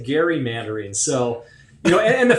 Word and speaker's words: gerrymander: not be named right representative pronounced gary mandarin you say gary that that's the actual we were we were